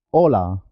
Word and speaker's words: hola: La H no tiene sonido, es muda. Hotel, hola.